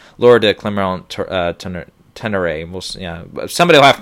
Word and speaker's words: Laura de Clermont-Tonnerre: You've got Kent Jones for Diane, Laura de Clermont-Tonnerre for The Mustang, Joe Talbot for Last Black